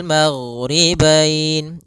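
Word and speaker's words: مَغْرِبَيْنِ: Kemudian di sini huruf ghain, hati-hati dalam pelafalannya, jangan sampai memantul, jangan maghribain wa Rabbul maghribain sampai dia memantul.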